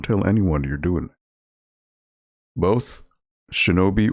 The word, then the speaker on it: shinobi: anyone you're doing both shinobi or shinabi that's a it's a good it's a good debate to have i i would say shinobi i i think that's the correct pronunciation but the iraq's has